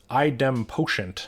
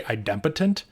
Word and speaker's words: idempotent: I think you mean idempotent. Idempotent, I think, is how you pronounce that word. I've heard one person say idempotent, and I had never heard that, and I don't think that's correct.